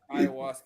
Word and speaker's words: ayahuasca: Ayahuasca, yeah.